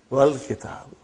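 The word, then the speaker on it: وَالْكِتَاب: When it came in front of Hamzatul Wasal, you did not pronounce. You will say, Wal Kitab.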